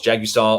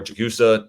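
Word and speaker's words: Jagusah: OT11 right now is Charles Jagisaw or Jagusa, pick your pronunciation.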